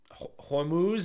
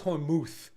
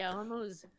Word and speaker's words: Hormuz: Iran, obviously, is the Strait of Hormuz. Is that how you pronounce it? I always thought it was Hormuth, but I guess not.